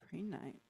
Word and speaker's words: Prehnite: Prenite. And that's spelled Prehnite. Pre-night.